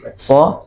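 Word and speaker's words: ص: Kalau so ditebalkan dikit, nah itu sudah berbeda ya, ditebalkan sedikit dan apa, ada nafas yang mengalir juga, maka itu insya Allah sudah pas huruf so-nya ya, so gitu ya.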